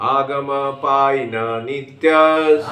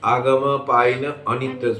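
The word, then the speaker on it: आगमापायिनोऽनित्याः: पहले दो बार जो डिसाइड किया मैंने, एक गलती किया था, आगमपायिन अनित्यस् बोला था, ये अ का उच्चारण नहीं होगा। एपोस्ट्रोफी है ना, एपोस्ट्रोफ है ना वहाँ, तो वहाँ आगमपायिन नित्यस्, आगमपायिन नित्यस्, तां तितिक्षस्य भारत।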